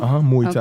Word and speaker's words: Muay Thai: different things that you bring from boxing, from Muay Thai. That's how you say it? Muay Thai.